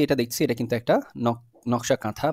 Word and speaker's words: নকশী কাঁথা: নকশী কাঁথা বা কাঁথা লেখা রয়েছে বাট এটার উচ্চারণটা হচ্ছে নকশী কাঁথা ঠিক আছে এখন এইখানে দেখেন কয়েকটা কি ওয়ার্ডস